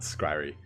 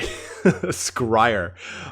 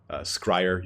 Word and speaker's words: Skryre: Not Skryre. Sorry, Skryre. Skryre is not the correct pronunciation.